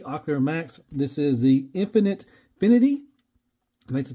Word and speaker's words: Finity: This is the Finity.